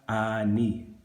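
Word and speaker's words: אני: So once again, what is I? Ani. Aleph, nun, yod. Ani.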